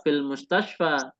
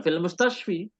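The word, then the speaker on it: المستشفى: Maka cara membacanya tetap fil mustashfa, bukan fil mustashfi, ya, tetapi fil mustashfa, minal mustashfa, ilal mustashfa.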